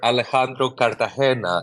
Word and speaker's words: Alejandro Cartagena: to have uh here with us today Mr Alejandro Cartagena did I pronounce that right sir hello hello that was